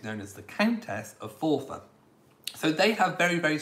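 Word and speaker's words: Forfar: the earl offer it spelled for far but it is pronounced fourfa so f-o-r-f-a-r um which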